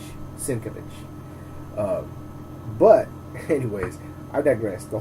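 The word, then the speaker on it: Sienkiewicz: point of interest everybody my buddy used to pronounce it st. K weeks I used to pronounce it cycle weeks and I actually got to meet the man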